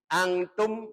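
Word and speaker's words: أنتم: Angtum itu ada nun sukun bertemu dengan ta. Hukumnya dibaca ikhfa. Ikhfa artinya samar atau tengah-tengah antara idhar dengan idgham supaya gampang dibaca. Cara bacanya angtum.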